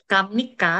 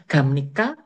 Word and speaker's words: 갑니까: Makanya di bayangan kita itu Kamnika kayak gitu bacanya. Padahal bacanya Gamnika, Gamnika.